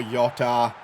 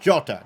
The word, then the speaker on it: Jota: now good ball inside Yoko Yota I'm sorry I keep mispronouncing him jota 5-2 Liverpool back in